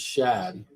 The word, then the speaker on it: Shad: But I want to pronounce his name as Shad. It's SHAD. Shad.